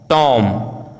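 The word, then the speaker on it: tomb: यदि किसी वर्ड में एम बी या बी टी साथ में हो तो बी का उच्चारण साइलेंट होता है, जैसे बॉम्ब, कॉम, टॉम, lamb, climb, डम, थम, प्लमर, डेट, डाउट, शटल।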